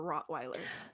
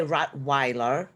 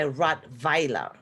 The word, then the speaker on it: Rottweiler: What is the right pronunciation for Rottweiler? So Germans, we pronounce a W as a V. So it's not, so you say Rottweiler, the Weiler, we say Rottweiler.